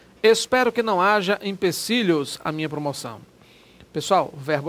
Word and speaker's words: empecilho: ter visto também né impecílio não não deve ser empecilho leva impecílio São muitos os empecilhos o pessoal colocando com Ih só talvez pelo por força da pronúncia de alguns né que geralmente